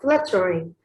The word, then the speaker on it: fluttering: But in the first meter, the first foot, we have fluttering. This word has 3 syllables, and it is stressed on the first one.